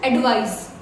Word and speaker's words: advise: This is S, advice, alright, and this is Z, that is Z. So advice and advise.